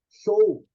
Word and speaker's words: chou: C-H-O-U. Show. Mas só que pronuncia em japonês show. Show.